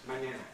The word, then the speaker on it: mañana: Notice how the vowel is the same in each syllable. Ma. Ña. Ña. Mañana. Mañana. Ah, ah, ah. What happens in English? Mañana. Mañana. Mañana. All three vowels are different, aren't they? What are they? Write it down. Mañana. Mañana. Mañana. And again, Spanish has this ñ sound, powerful nasal, which we don't have in English, so we split it up into two things.